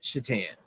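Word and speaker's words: Šatan: Miroslav Shatan. Now, it's not really how his name sounds. It's funny. It's how it's spelled. It's spelled like Satan.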